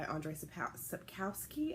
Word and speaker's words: Andrzej Sapkowski: The other book that I would like to get to is The Blood of Elves by Andrzej Sapkowski, I think is how it's pronounced.